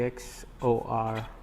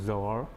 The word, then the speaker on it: XOR: e x o r so that people pronounce it as x or and even if you write it like this there is a tendency to go to zor but it's not your it has to be exclusive or for you to